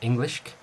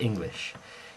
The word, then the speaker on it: Englisc: Now one thing you've got to remember is it's never English. It's never pronounced English. It's Englischk or Anglischk. It's not an I sound, it's an E sound.